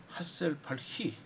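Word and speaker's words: Hasselbalch: 그래서 이것을 이론화시킨 사람이 헨더슨 하셀발히 이걸 어떻게 읽을까 고민하다가 그냥 아마 독일 사람 같다는 이제 느낌이 들어서 하셀발히라고 그렇게 그냥 이제 읽겠습니다. CH 발음, 히 발음을 합니다.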